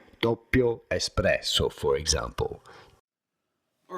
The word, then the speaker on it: Doppio: Doppio. You do want to stress on the first syllable and insist a little bit on the double P because there is a double P and it matters in Italian.